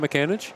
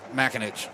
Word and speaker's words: McAninch: It's not McAninch? It's Makinich.